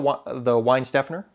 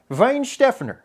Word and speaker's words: Weihenstephaner: I'm like, I'll have the Weihenstephaner, and then she's like, the Weihenstephaner, okay.